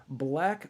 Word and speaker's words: BLVCK: We also have to thank Black Organic Coffee. That's spelled BLVCK Organic Coffee.